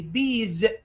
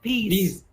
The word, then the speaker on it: bees: Say it correctly. Bees, not peas.